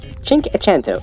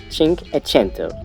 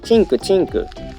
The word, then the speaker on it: Cinquecento: Cinquecento is Italian pronunciation of 500. Cinquecento, like 500. Some Japanese often call this car Cinku Cinku, so little bit wrong.